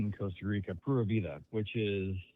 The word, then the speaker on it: Pura Vida: So how was that pronounced again? Pura Vida. Pura Vida?